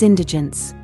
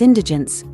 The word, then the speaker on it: indigence: poverty If you experience indigence you have a critical need for food money and other resources to correctly pronounce Indigent accent the first syllable in IND D gens it means great lack